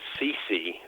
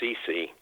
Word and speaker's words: Ceci: Stephen Cece, that's spelled CECI, but pronounced like Whitney Houston's mother, Cece. And and Dr. Cece, uh, who of course